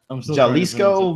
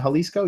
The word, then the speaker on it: Jalisco: that it says guadalahara Jalisco Mexico right Jalisco is that how you say that Jalisco jalis halisco probably halisco right is it halisco you say halisco I say hco there you